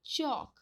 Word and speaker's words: चौक: और चौक, ये अ का उच्चारण वाला शब्द है, तो चौक।